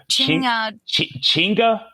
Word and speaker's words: chinga: Chinga. So like chinga tu madre.